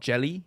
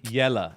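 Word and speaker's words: Jelle: first name is spelled j-e-l-l-e yes can you pronounce that I assume it's called jelly no no no oh no see yellow is the first name yeah incorrect yellow yellow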